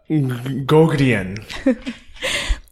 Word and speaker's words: Gougeon: How do you say your last name? I'll let you butcher it. Give it one try. Gougeon. With Megan Gougeon.